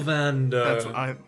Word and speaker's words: Castlevanders: Castlevanders. No, say it with me. Castle. Vander. Castlevanders. You have to say it like you're falling asleep.